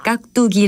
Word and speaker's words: 깍두기: 않는 경우가 종종 있는데요 깍두기 에 첫 음절에 받침은 기억 이고 두 번째 음절의 칫솔이 는 디그 십니다 이것을 깍두기 라고 발음 하기 때문에 특히 두번째 음절을 쌍 딕을 수로 혼동하기 쉬운 일까요 주의를 기울이면 좋겠습니다 그리고